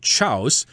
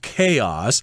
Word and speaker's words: chaos: resulting chaos i know this word is not pronounced chaus as i thought it was pronounced when i was a kid i asked my dad dad what does the word chaus mean a little roger that is pronounced chaos